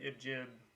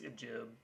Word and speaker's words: ibgib: the repo right now the ibj repo or ip depending on how you want to pronounce it it's g like in garage um right now there's the main repo which is just ibjib uh it's kind of